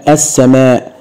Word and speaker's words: السماء: وعشان كده لو قلنا السماء او السمكة او الصياد او الضابط او الشمس، كل هذه الكلمات لا تنطق بها اللام. وحاول ادرب التلميذ على كتابة